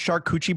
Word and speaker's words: charcuterie: It's pronounced charcuterie board.